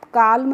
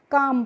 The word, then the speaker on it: calm: L और M जब भी किसी भी शब्द में आते हैं एक साथ, तो यहाँ पे जो L होती है उसका प्रोनाउंसिएशन बच्चों हम नहीं करते हैं, इसीलिए इसको हम काल्म नहीं पढ़ते हैं, क्या पढ़ते हैं, काम पढ़ते हैं।